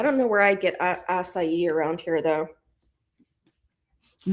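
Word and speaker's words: açaí: I don't know where I get acai around here though. I'm not being funny. That's why I didn't say it because I didn't know how to pronounce it. I won't lie. Yeah, it's asai but I don't know where you'd get it here.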